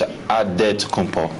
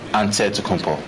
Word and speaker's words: Antetokounmpo: The Nigerian way, you gotta say it with a D, so it's Antetokounmpo. But in the Greek way, you say it with the NT, like Antetokounmpo.